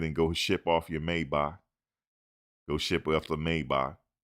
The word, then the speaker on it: Maybach: Go ahead and go ship off your Maybach. Go ship off the Maybach. It's pronounced Maybach, but we say it wrong. People say Maybach. It's Maybach.